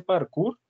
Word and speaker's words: parkour: de seguir también explica algunos de ustedes hace parkour así se pronuncia bien así eso es que saltan así